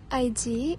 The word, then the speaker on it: ID: to enter the building id is pronounced i d the first sound is a vowel sound a hamster and an